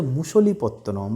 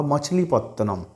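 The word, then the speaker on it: Machilipatnam: অর্থাৎ কি হলো, ডাচেরা প্রথম ভারতবর্ষের কোথায় এলো 1605 সালে, অন্ধ্রপ্রদেশের মুসলিপত্তনম বা মছলিপত্তনম। অন্ধ্রপ্রদেশের এই যে শহরটা মুসলিপত্তনম বা মাছিপত্তনম, নানা রকমভাবে এটাকে উচ্চারণ করা হয়ে থাকে, এই শহরটার একটা বৈশিষ্ট্য আছে।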